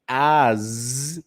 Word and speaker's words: as: as okay as and be careful with the pronunciation of this one because if you say as that is the pronunciation and the other one is us which is different right it has a different meaning as and as this one s is with z at the end as okay and we